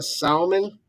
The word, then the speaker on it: salmon: A salmon. A salmon. If you pronounce the hard L in salmon, people, you can do anything.